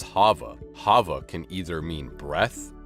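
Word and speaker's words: חוה: not wrong just confusing Eve pronounced as Hava Hava can either mean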